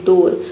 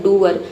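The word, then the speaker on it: door: एक वर्ड है जो कि इस रूल का क्या है? एक्सेप्शन है। वो है डोर। डोर में देखिए डबल ओ के बाद आर आया है। लेकिन यहां पे डबल ओ को उअर नहीं पढ़ते। अगर उअर पढ़ते तो इसका प्रोनंसिएशन हो जाता है डअर।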